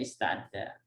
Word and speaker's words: ista'adda: Makanya baris sukun yang awal difathahkan ya, jadi bunyinya ista'adda.